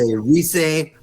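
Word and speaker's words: rire: Say reag.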